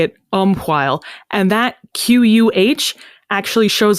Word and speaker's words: umquhile: it is still pronounced umquhile. But because English lost that distinction, you and I are inclined to say just umwhile, because we don't usually enunciate that H sound when we speak.